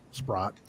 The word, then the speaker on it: Spratt: Renee asked the entity, she goes, we have permission from Alexis Spratt, because now it's pronounced Spratt. Back then it was Sprott.